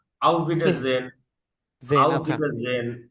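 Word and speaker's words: Auf Wiedersehen: Out bitter জেহেন না, out bitter gen, জেন, আউট আচ্ছা। Bitter gen, out bitter জেহেন। আর উচ্চারণ কিন্তু হবে না, হ্যাঁ মনে রাখবেন আচ্ছা, এটা।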